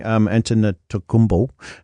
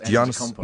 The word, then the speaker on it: Antetokounmpo: Yeah, beating Antetokounmpo was a great move there by Toronto, but they just won't get over Cleveland.